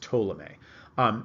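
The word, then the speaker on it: Ptolemy: guy tola may on the P is silent by the way so it's pronounced tola may he used scientific investigation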